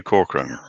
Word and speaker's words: Corcoran: How is this supposed to be said, Peter? Corcoran. The way I just said it, Brian.